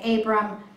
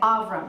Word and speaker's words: Abram: we get the sound in our English you say Abram in our Hebrew we say avram because that's closer to it now when we get